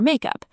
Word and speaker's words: make up: Notice in all of these, the stress is on up, make up, two words phrasal verb. As a noun, makeup. Now squeeze it into one word, makeup, and the stress shifts to the first syllable, make up.